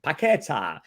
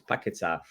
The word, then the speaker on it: Paquetá: I think yesterday I was calling him Paquetá, but it's Paquetá. Apparently, I have listened to the Portuguese pronunciation, and the player that might be going the other way, it's been linked.